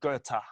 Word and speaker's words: Goethe: was like yeah because most people see goethe and from their pronunciation and call it ghost and that's right but if you're gonna quote a guy get his name right so yeah yeah that's